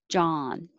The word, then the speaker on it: John: biased bias arguing arguing john just the guy's name no matter how it's spelled is ah so open jaw well it sounds like jaw john coercion validity incredibly consensual